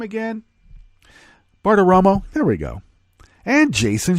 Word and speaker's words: Bartiromo: Bartiromo, there we go.